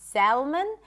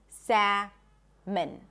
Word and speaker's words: salmon: So we do not pronounce the L in English. It's not salmon.